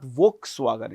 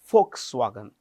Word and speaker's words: Volkswagen: This V is pronounced with an F. Remember this. It is not Volkswagen. It is Folkswagen.